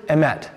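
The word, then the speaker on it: emet: idea behind this word the hebrew is ahmet can we all say emmett you could spell it e-m-e-t i have some friends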